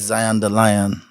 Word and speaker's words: Zion deLion: So, my name is Zion the Lion. We spell it as Z I O N D E L I O N.